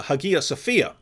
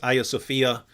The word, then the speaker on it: Hagia Sophia: a video on uh Hagia Sophia um that's that that would be the original Greek pronunciation um in Turkish now I think it's Aya Sophia and so this was